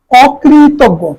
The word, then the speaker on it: অকৃতজ্ঞ: অরণ্য উচ্চারণ হবে অরণ্য অকৃতজ্ঞ খেয়াল করো অকৃতজ্ঞ এখানে ঋকারের কারণে অকার ওকার হয়েছে অকৃতজ্ঞ অকৃতজ্ঞ এখানে এই জটা তোমার গ উচ্চারণ করা অকৃতজ্ঞ এরপরে দেখ অধ্যাপক